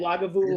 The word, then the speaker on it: Lagavulin: that's like that's the Lagavulin. Is that how you say it? Lagavulin? I Yeah, tried. I did Lagavulin. my best. Both are right. Yeah, Both are right. Lagavulin.